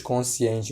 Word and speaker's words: consciente: a isso constituição consciente cuidado que nós falamos consciente mas se escreve consciente com NS assim como conscientização a